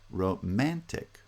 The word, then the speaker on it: romantic: because they're unstressed syllables in romantic the second syllable is stressed romantic romantic and in the third